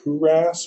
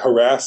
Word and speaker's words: HTSM: H really and so we call it harass we like to pronounce it Hass or we don't like to say like harass like the the word harass because it sounds bad um but H as